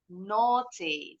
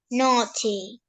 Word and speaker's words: naughty: Bacanya boleh naughty with the true T sound, huruf T-nya jelas, or naughty. Naughty, T-nya bunyinya seperti D cepat. Just like the Americans. Either way, dua-duanya betul ya pengucapannya.